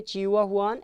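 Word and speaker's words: Chihuahuan: चिहुआहुआन, pronunciation याद रखोगे, चिहुआहुआन, इट इज़ in Mexico, north America obviously.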